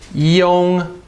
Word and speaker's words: yong: yun, and then you've got this one here, yong. Guess how you spell it?